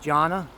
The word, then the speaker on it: Jonna: Of course, I got my nephew's wedding, Travis, and his wife, Jonna. I had a hard time pronouncing that name. I thought it was Jonah, but it's Jonna.